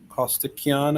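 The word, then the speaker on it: Costikyan: Greg Kostikian, I think is how you say the last name?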